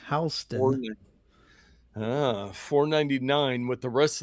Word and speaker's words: HSTN: The rest of the collection, the limited edition Oakley Meta HSTN Pronounced Houston.